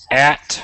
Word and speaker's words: at: Could you say at for me? At? At. We always want to pronounce the T at the end.